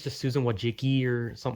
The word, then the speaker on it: Wojcicki: Some people say Wajkiki, some people say Wajki, some people say Wajihi, or something.